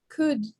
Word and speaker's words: could: could. Excellent. Which letter is not pronounced? The L.